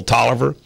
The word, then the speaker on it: Taliaferro: I get to beat Rob Sanders and Phil Taliaferro. See, he calls himself Phil Tolliver, but the way it's spelled is Taliaferro.